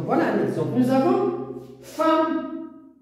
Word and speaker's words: femme: Nous avons femme. Qu'est-ce qu'on prononce? Femme avec A. Alors, le E se prononce A.